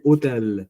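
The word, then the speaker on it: hôtel: h hotel h mue we don't speak h we say hotel we don't say hotel in French so when h is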